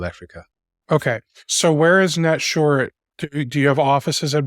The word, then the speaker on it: Netsurit: His name is Orrin, and Orrin is the co-founder and CEO of Netsurit. Is that the right way to pronounce it?